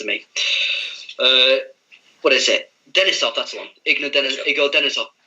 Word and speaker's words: Denisov: Denisov, that's the one.